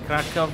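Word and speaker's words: Kraków: ये क्राकोव जो है, काराकोव की एक खूबसूरत शाम टांगे वाले के साथ। यहाँ टांगे वालियाँ भी होती हैं। क्राकेव गरम ने करेक्ट प्रोनाउंसिएशन था वो उसमें कहा क्रैकू।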